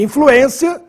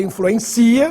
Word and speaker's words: influência: circunflexo no e e influência para não ler influencia que é verbo influência tem circumflex no